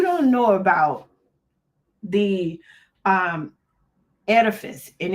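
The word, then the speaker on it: Oedipus: So, we're gonna talk about this thing called the edifice and the electra um complex. So, if you don't know about the um edifice and it's spelled the O is silent.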